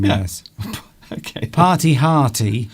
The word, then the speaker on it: party hearty: Party hearty would rhyme, but Yeah. party hardy. That's okay. Party hardy. Because with the American accent, it's okay.